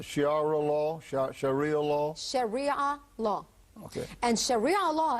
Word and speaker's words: Sharia: us a little bit about how do you pronounce the shiar law sh Shia law Sharia law okay and Sharia law is basically what